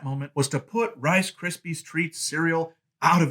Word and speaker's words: Krispies: it is called Rice Krispies Treats Cereals. I have never usually pronounced that S at the end of Krispies. I usually just say Rice Krispie Treats Cereal, but that's not what this really is.